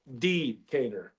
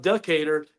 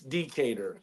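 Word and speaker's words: Decatur: too all this time I've never enunciated the first syllable decator that's how you say it right that's that's what she told me so Josh remember that is not deater it's decator so you got to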